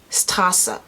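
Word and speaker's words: Straße: lot yeah that's it this word is tasa stasa which means street in german if it's spelled in english like without the cha-fest just the english lettering then it actually has two s's okay the r is more coming from the throat as opposed to the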